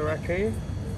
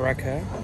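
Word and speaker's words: rakı: So, we're gonna try the RAKI or RAKI, depending on how you say it.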